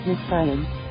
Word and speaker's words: Nxivm: Many who signed up quickly became indebted and ended up having to work for Nxivm, pronounced Nexium, to pay for their courses.